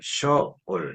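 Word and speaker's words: שְׁאוֹל: 화가 다양하게 되기도 하는데 보다는 어에 가깝다고 해서 쇼올 이렇게 발음합니다 요것은 스월 음부 사람이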